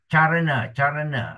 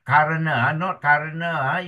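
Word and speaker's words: caraṇa: Remember, C is pronounced as ch. So it is as in church. C as in church. And the example of those is charana, not karana, it is charana.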